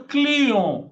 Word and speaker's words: client: Mas olha como que você vai falar aqui. Client, não é cliente? Não, esse T você não vai ler. E com N você fala on.